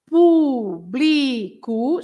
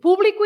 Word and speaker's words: público: So público, so you say público, you stress bli, but then if you have an accent on the u, so then you have to say público.